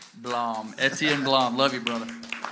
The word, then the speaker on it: Blom: Blom.